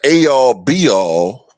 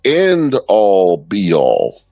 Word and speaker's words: end-all, be-all: Because, if he did have a college degree, maybe he would know that the phrase, the A-all, B-all, doesn't exist, and the proper pronunciation is that something is not the end-all, be-all.